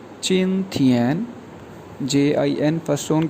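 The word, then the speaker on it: 今天: जी, जो सबसे पहला वर्ड है चिन थियन, JIN फर्स्ट टोन के साथ, TIAN ये भी फर्स्ट टोन है, प्रोनाउंस किया जाएगा चिन थियन।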